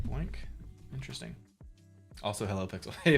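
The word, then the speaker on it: BOINC: a specific Minecraft seed using the Boink network, pronounced like Boink.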